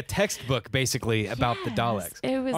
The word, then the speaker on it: Dalek: Ah, okay, so it's like a textbook, basically, about yes, the Daleks. It was... Oh, I'm sorry, I said it wrong. Daleks. You have to say it right.